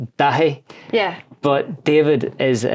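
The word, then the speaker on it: Dáithí: It's Gaelic, so it's not the easiest to pronounce. It's Dahi. Yeah. But David is the English version, so that's pretty handy. It just sounds a bit more... David, Davo, whatever you want it. Yeah. But Dahi is a wee bit of a sticker, so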